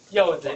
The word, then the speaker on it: 柚子: Pomelo pronounced 柚子 in Chinese, which means blessing.